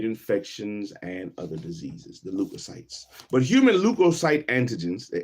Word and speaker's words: leukocyte: Leukocyte, leukocyte. That's how I'm gonna pronounce it right now. Leukocyte, leukocyte. Get off my phone. I want to see you. Leukoc, leukocytes. How do you pronounce it?